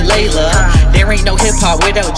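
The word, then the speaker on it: Leila: Her name's spelled L-E-I-L-A, but you pronounce it Layla.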